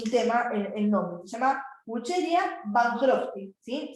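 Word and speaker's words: Wuchereria bancrofti: Se llama Wucheria bancrofti, ¿sí? Se escribe así, W-U-W, ¿sí? Che, D, Ia, ¿sí? Wucheria, ¿sí? Y con B larga, Van Crofty.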